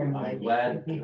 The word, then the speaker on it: Kimley: they are Kimley Horn. Kimley Horn. It's It is. Kimberly Horn.